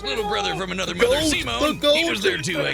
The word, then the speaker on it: Simon: And as beits Kamina and Simone's unbreakable brotherly bond, Kurin and Lock, create a Wait, his name is pronounced Simone. I thought it was Simon like you know these